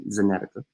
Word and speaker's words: AstraZeneca: Says Astrazeneca. And safety and effectiveness data late stage trials are early as January. Federal health officials say, yet there are already signs that AstraZeneca, some people actually pronounce it Zenetica, shot could fall well